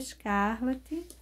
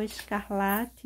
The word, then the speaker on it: escarlate: vir aí com vermelho Scarlet e vou enchendo esse biquinho o vermelho Escarlate o Escarlate né que é a forma correta da pronúncia no meu vício de